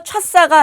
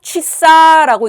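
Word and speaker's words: часа: 엑센트가 뒤에 있습니다. 그래서 차싸라고 읽는 것이 아니라 어 우리 어 발음 규칙 배울 때 엑센트 앞에 있는 아는 변하진 않아요. 그런데 뭐가 변해요? 차가 변해요. 그래서 차사가 아니라 취사라고 읽습니다.이 얘는 여러분들 어 러시아의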